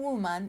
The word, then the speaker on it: woman: For one woman, you say woman. W-O-M-A-N. Woman. Like Wonder Woman.